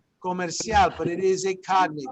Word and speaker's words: comercial: Comercial, right? Here's where the C sounds like an S, doesn't it, right? Comercial, but it is a cognate.